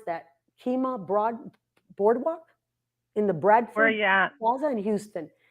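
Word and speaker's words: Kemah: How do you pronounce that? Kima Boardwalk in the Bradford Where are you at?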